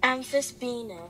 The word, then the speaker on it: Amphisbaena: The actual pronunciation is Amphisbaena.